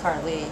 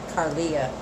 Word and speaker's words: Carly: Well, all right, Carly, it's almost like Carolee. She said it's pronounced Carly, not Carolee. Not Carlia, it's Carly.